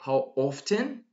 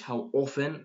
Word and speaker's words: often: or by the way when I say how often that's British how often that's American British people actually pronounce the letter T here so the frequency